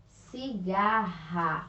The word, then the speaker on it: cigarra: dois erres aqui ó cigarra a cigarra e olha só a pronúncia forte e está no meio de duas vogais olha só então utilizamos